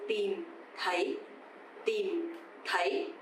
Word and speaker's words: tìm thấy: So here you will see two letter T's actually tìm. T standing alone sounds the. It's not like a T in English, of course. But the second one, TH, sounds like the. A bit softer, right? So tìm is dấu huyền, you have to go down, and thấy dấu sắc, you have to go up.